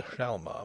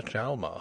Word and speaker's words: Hjalmar: Some said the J ought to be pronounced to the exclusion of the H, and others maintained the contrary. In the end the first two letters were both abandoned utterly, also the last, but nobody had ever